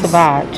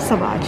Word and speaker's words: Sauvage: Sauvage, that's how you say it. Sauvage, yes.